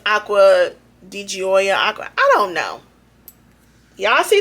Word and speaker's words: Acqua di Gioia: is, they said I was saying it wrong, Acqua di Gioia. I don't like, y'all can see it. How about that? Read it. I call it Acqua di Gaia, but I think they said it's Acqua di Gioia.